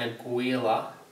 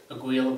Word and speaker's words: Aguilar: So without any further ado, the new amp is an Aguilar. I think that's how you pronounce it, Aguilar, A-G-U-I-L-A. They're made in New York, I believe. So it's either Aguilar or Aguilar.